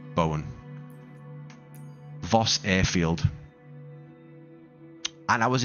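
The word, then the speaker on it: Bomoen: Uh, the It's called It's spelled B O M O E N, which I believe is pronounced Bowen. as in the surname Bowen, like Jared Bowen, West Ham.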